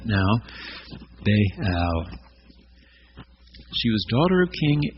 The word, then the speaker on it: Baal: fertility in it Beal as children I was taught baale but it has two syllables and our better translations all show that now Beal she was daughter of